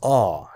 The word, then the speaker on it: awe: This is pronounced as awe, just like law.